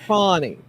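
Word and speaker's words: Fani: own name you know Fanny pronounces it fonnie fonnie yeah I don't know why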